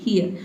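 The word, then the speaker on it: here: ठीक है, यहाँ पे हीर इसको नहीं पढ़ेंगे, इसको पढ़ेंगे हियर। ठीक है, एच का ह हो जाएगा और ई ए का क्या हो जाएगा?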